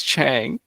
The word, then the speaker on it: Chang: Do you prefer Chong or Chang? It's Chang. Okay.